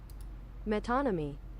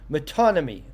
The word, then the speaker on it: metonymy: Well, I'm going to find out how we pronounce this, because honestly, that was probably not. Okay, yes. Metonymy. Metonymy.